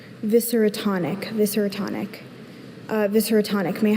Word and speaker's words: viscerotonic: Viscerotonic. Viscerotonic. Uh, are there any alternate pronunciations? Just visceratonic.